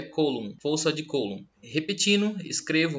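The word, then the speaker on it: Coulomb: Alguns chamam de força de colum, mas como nós estamos falando de um francês, a pronúncia correta é colum.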